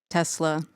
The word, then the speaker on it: Tesxla: Tesla. TSXLA. The X is silent.